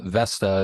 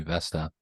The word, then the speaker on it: Vesta: was horrible branding phonetically it's a little challenging the V sometimes sounds like an F or a B but uh Vesta is actually the Roman